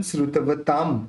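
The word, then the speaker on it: श्रुतवतां: न उच्चारण निकालेंगे, अल्पश्रुतन श्रुतवताम। अब यहाँ पे प है, तो प बोलते समय दोनों होठ मिल जाते हैं, तो अपन उसका उच्चारण कैसे करेंगे, म करेंगे, काम परिहास धाम।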